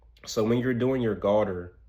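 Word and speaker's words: galdr: And garter is spelled G-A-L-D-R, garter. You basically will want to get in like a guttural throat, pause. You want to, like, in like the back of your throat, meditate the word Uruz.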